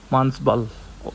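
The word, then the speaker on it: Manasbal: এটা হচ্ছে মানসবাল, মানসবাল, ওদের উচ্চারণ হচ্ছে মানসবাল।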